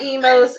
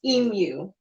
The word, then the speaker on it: emu: Not emos, it's pronounced emu. Emu, Emu. yeah. Okay, not emu. It's emu. Emu? Emu. I said emo.